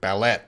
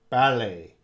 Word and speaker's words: ballet: we say Bal ballet uh English might say if it's an English word and we're using English pronunciation uh should sound like ballet but we don't say that we use the French pronunciation in English ballet and shalet and valet